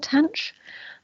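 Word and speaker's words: tanh: in terms of exponentials you will heard them pronounced as shine kosh and tanch uh or refer to them as hyperbolic cyan cause and tan as you will also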